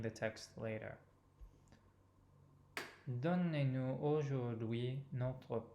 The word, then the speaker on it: notre: Donnez-nous aujourd'hui notre pain de chaque jour. So again, open O in notre and the same nasal vowel in pain.